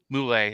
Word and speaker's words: Mulae: is finally mr nick moulay is am i pronouncing your last name right that's right yeah okay okay it's italian okay gotcha every time